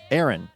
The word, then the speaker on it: Aaron: Aaron rhymes with bear in, and Hicks rhymes with kicks. Now, I want to make sure that it's clear. Not barren like a barren desert, but a bear inside of something.